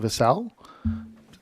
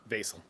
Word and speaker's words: Vassal: And that is case H-25-0023, Vassal. Is that how you pronounce it? Vasel. Vasel, my bad.